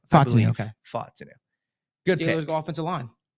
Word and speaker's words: Fontenot: Is that, am I pronouncing his name correct? Fontenot.